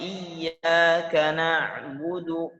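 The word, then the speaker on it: إياك نعبد: Pengucapan iyyaka na'budu, kalimat ba-nya diringankan. Iyyaka na'budu wa iyyaka nasta'in. Tidak menghembuskan napas pada iyyaka na'budu, budu, ba dan dalnya tidak mengalirkan nafas.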